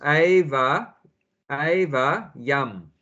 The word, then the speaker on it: evyam: Eva, long A. So eva yam. It's M as well. Yeah. M at the end. Yeah, Yeah. but Evyam. two syllables. Eva yam. Eva yam. Not one Yeah. word. Okay. Yeah, one word, but you break it up like that. Eva yam, because it's a long A.